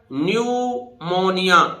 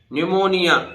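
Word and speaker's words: pneumonia: है न्यूमेटिक अब देखिए पढ़िए पी साइलेंट रहेगा न्यूमोनिया न्यूमोनिया न्यूमोनिया निमोनिया आप जानते हैं निमोनिया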